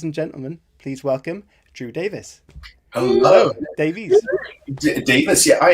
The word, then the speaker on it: Davies: And then when I got back to Britain, I realized that's actually the Welsh pronunciation is Drew Davies. So I'm constantly correcting people. I'm like, it's Davies.